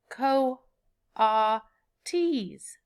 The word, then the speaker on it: coatis: pigs or raccoony dogs these are kotas miss Brisbane said reading from the letter pronounced Co ah T's the coatis looked weird